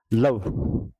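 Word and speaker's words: love: अब लव, लव, यहाँ ई silent है, सी क्या हुआ? कॉन्सोनेंट, वोवल और कॉन्सोनेंट। ई क्या है? साइलेंट है, लव। व की साउंड आ रही है, लवी तो नहीं आई ना, ई की साउंड तो नहीं आई।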